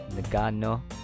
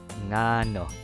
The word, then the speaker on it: ngano: they first see it, they would probably pronounce it as like nagano. You pronounce it like the ng of sing, like ngano.